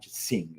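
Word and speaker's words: Qing: the king sing Dynasty I didn't know the sing in English I think it's sing not King but in any case I said it wrong no no no I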